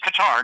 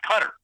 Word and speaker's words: Qatar: And it is Qatar, not Qatar.